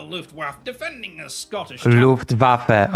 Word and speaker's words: Luftwaffe: Luftwaffe. Okay, it's Luftwaffe. It's not Luftwaffe.